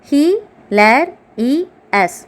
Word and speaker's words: hilarious: Hilarious. 4 syllables.